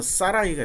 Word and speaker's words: 사라이: 근데 사라를 히브리어로 발음하면 사라이가 됩니다.